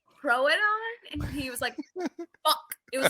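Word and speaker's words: Troodon: it well no the the fact that i up the pronunciation of the name troadon he said true don through the whole entire book one and then one of our beta listeners went um throw it on and he was like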